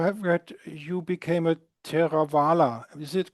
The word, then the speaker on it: Theravadan: No, I believe I have read you became a Theravada. Is it correct pronounced? Theravadan.